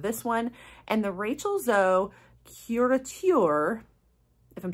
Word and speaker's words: Rachel Zoe: say her name right it's Rachel zo I was saying Rachel zoee before uh but anyway so